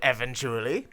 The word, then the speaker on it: Eventually: It's pronounced exactly like that. Called Eventually.